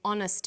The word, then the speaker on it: honest: happy man but an honest man the H is not pronounced so honest sounds like